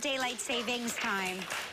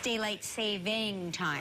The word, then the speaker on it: daylight saving time: And it's, by the way, it's not daylight savings time. It's daylight saving time. Right. Did you all say it with the S?